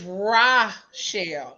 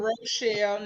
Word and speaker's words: Rochelle: you good and it's raw shell not Rochelle not racial not none of that right